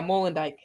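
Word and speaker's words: Molendyk: Is it Molendijk? Yeah, Molendijk.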